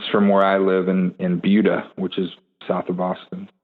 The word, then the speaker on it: Buda: Yeah, I mean, even living in South Austin, right next to it, I always thought it was Buda as well. But Buda, and then I never put two and two together.